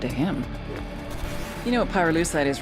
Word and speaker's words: pyrolusite: him you know what pyrolusite is right yeah neither did I Pyrrha lucite key syllable pyro by the way is the